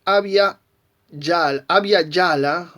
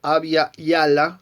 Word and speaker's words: Abya Yala: Pero hay un antecedente más todavía, y es la expresión Abya Yala o Abya Yala o Abya Yala, sería la pronunciación sin nuestro yeyeo rioplatense.